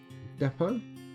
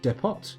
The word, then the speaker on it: depot: our trading goods from the Depot or debt pots if you want to mispronounce it and then no